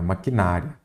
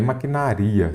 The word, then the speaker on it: maquinaria: Esta palavra FGV adora maquinária não existe maquinária até que maquinário sim o correto aqui é maquinaria se você não ler